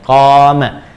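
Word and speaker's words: قام: Jadi qoma yaquumu qama ingat qoma ya bukan titik dan qoma panjang bacanya qoma.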